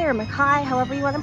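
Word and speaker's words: McCay: So she was created by animator Winsor McKay or Mackay, however you want to pronounce it.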